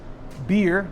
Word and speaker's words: Byrrh: This cocktail is called Half Past Midnight, and it's a blend of rum, Byrrh, that's how it's pronounced, it's not my fault, it's B-Y-R-R-H.